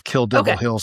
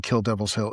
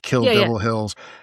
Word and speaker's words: Kill Devil Hills: I I said it wrong. It is Kill Devil Hills. I was saying Kill Devil's Hill. It's Kill Devil Hills.